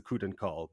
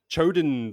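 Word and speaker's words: Choedan Kal: The key to what I pronounce as the Kuden Call, but is probably not pronounced like that at all. You and me both. I think it's pronounced like Choden something, and that sounds ridiculous to me, so I refuse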